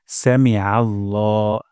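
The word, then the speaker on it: سمع الله: শিখবো প্রথম শব্দটি হল সামিআল্লাহ সামি আল্লাহ এখানে আইন গলার মাঝখান থেকে উচ্চারণ হবে এমনটি হবে না সামি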